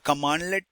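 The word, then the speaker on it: cmdlet: Next I'll tell you the locate commands commandlet it is so cmdle you have heard or read this word it is pronounced pronounced as commandlet which is a compiled command right.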